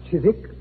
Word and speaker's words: Chiswick: Chiswick? It was originally pronounced Chiswick, Watson, and it's still so spelled.